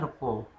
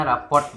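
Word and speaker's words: rapport: Lalu juga jangan lupa ada istilah repo, mungkin bacanya raport gitu ya, tapi kalangan kita biasanya nyebutnya tuh repo.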